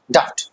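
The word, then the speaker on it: doubt: अब देखो सुनो, यहाँ पे बी है, बी है ना, बी दिख रहा है, तो आप इसको डाउट, डाउट मत बोलना, डाउट मत बोलना, ठीक है। डाउट क्या बोलेंगे, डाउट। बी को हम क्या करेंगे, यहाँ पे साइलेंट करेंगे, क्या करेंगे, बी को हम यहाँ पे साइलेंट करेंगे, ठीक है। तो डाउट बोलेंगे इसको, ठीक है।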